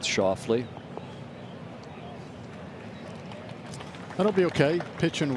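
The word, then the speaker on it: Schauffele: He's asking for it to land softly, which for our friends in Memphis rhymes with Schoffley.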